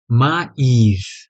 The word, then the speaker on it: mais: ठीक है, एक और वर्ड होता है फ्रेंच में, MAIS।